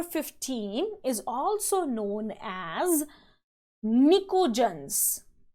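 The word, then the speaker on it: pnictogens: is also known as nicodens the p used here is silent it is known as nicodens group number 16 the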